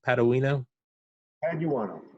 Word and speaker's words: Paduano: Paduano? Paduano. Just like it's spelled.